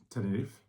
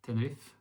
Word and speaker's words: Tenerife: I read in the news that there was snow in Tenerife, or how do you pronounce that? Tenerife. Tenerife. Tenerife in Spanish.